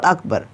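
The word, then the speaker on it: أكبر: পারবেন না তারপর দেখুন আকবার এই আকবার হামজা কাফ জবর আক তারপর বা র জবর বার আকবর নাকি এখানে আকবার আমরা অনেকেই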